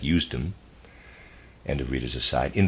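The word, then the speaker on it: Usedom: that's a reader's aside that's spelled u-s-e-d-o-m I'm going to pronounce that eustom and the readers aside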